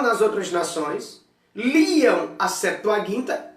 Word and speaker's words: Septuaginta: a estudar a Septuaginta, ou pronunciada do grego Septuaginta, porque o gama não tem som de J, né?